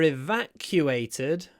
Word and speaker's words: evacuate: town evacuated for me the most interesting part of this word is this bit the Q8 bit which actually sounds like you're saying the country Q8 cuate is a country evacuate cuate evacuation um there is a y q and there is definitely a w weit q wa if